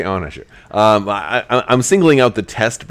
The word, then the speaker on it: Onager: If you guys haven't, whether you pronounce it Onager or Onager, I call it Onager. But I've heard it called both ways, and I'm going to say it my way.